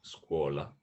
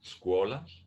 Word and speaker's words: scuola: School is scuola, and university is università. Okay. Can you pronounce those for me one more time? Yes, school is scuola.